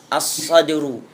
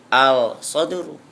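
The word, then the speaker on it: الصدر: asyamsu attasi yang kesemb Shad asadru tidak boleh dibaca aladru asadru dada alasyir yang ke-10ifu tidak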